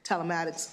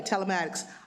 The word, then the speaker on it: telematics: Not necessarily telmatics or did I pronounce that correct? Telmatics. Yeah, telematics.